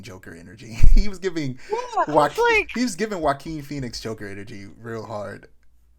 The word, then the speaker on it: Joaquin: It probably isn't for the reason I think it is, because his name starts with a J, but it's pronounced Joaquin.